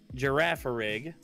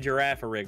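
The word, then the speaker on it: Girafarig: Whalmer, Cottony, Clobopus, Electrike, a Reverse Holo Giraffa Rig. There, I said it right, Nick. Are you happy? I finally said Giraffa Rig right.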